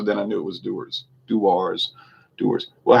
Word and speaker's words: Dewar's: people get very defensive i always used to pronounce it do wars do ours yeah i didn't know what it was either but i i saw people saying doers and then i saw some videos produced by doers so then i knew